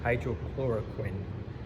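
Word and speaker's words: hydroxychloroquine: So one of the drugs that the president was pushing, hydrochloroquine, that's how it's properly pronounced, apologies.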